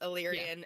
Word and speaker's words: Illyrian: Being Illyrian, is that how you say it? Illyrian? Yeah. Yes, Illyrian, and they each have, what is it?